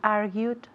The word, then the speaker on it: argued: That's why I argued with her. Y la pronunciación, dime argued otra vez porque me encanta. Argued. ¿Oyes la D suave al final de esa palabra?